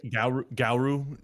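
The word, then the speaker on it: Garou: Goru Goru Gu Gau like Guru G- A R O U One Punch Man should get you there.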